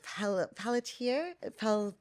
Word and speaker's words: Pelletier: Yeah, so today we've got a really special guest, Chadwick, and it is Pelletier. The English Yeah, you pronunciation.